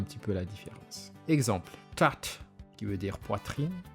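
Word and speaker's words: tratra: Exemple, tat, qui veut dire poitrine, s'écrit T-R-A-T-R-A.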